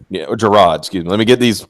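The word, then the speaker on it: Jirard: you know the completionist leo be heard yeah Jared yeah Jerrod Scouten let me get these let me get the pronunciations correct not want to be associated with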